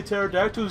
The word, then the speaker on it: pterodactyl: pterodactyl there we go hey guys why can't you hear pterodactyl go to the bathroom because the PE is silent I don't think those